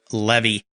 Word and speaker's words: Levy: from Detroit Michigan Levy remember his name cuz it rhymes with Chevy and there's a reason